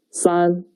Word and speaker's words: 三: The pronunciation is 三. 跟我读. 三.